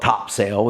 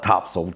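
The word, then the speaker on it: Topsail: And if anybody is goes up to the beach north of us, Topsel, if you call it Topsel, you don't call it Topsale. It's spelled Topsale, but we call it Topsel.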